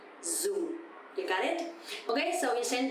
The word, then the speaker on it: dùng: And also because the tone mark here is dấu huyền, so it's going to be down a little bit. Dùng.